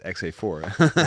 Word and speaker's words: XA4: It's actually like in the Netherlands, the number 4 is vier. And if you would say my name in a Dutch way, you say Xavier.